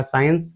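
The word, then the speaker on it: science: इसे भी हमारा साइंस, इसमें भी हमारा सी से पहले एस आया, इसे भी हमने साइलेंट कर दिया, साइंस।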